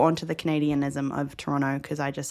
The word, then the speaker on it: Toronto: And I say Toronto. And they miss out the T, Toronto. Yeah, I have caught on to the Canadianism of Toronto because I just say